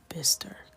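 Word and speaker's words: bistre: do with this just look it up it's pronounced like bister got it we can't really make anything work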